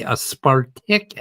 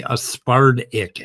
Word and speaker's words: aspartic: And if you pronounce, and don't say aspartic acid, like a wood tick, say aspartic acid, like damn, and that's a D.